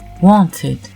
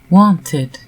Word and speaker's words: wanted: Le ED se prononce id si le verbe se termine par un D ou un T. Il s'agit alors d'un I